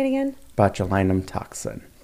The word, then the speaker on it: botulinum: injected but how do you say it again botulinum toxin botulinum toxin yeah say that so there's Botox there's